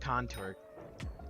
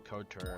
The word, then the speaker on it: couture: I always used to call it contour, but I was dumb and didn't realize it was actually couture or whatever.